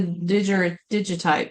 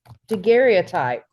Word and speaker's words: daguerreotype: The digitipe. No, derog. How do you say it? daguerreotype.